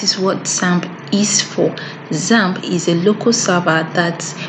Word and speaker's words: XAMPP: run and that is what samp is for zamp is a local server that provides an environment